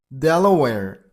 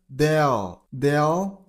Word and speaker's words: Delaware: Delaware. You gotta stress on the very first syllable. Delaware, Delaware, Delaware, Delaware.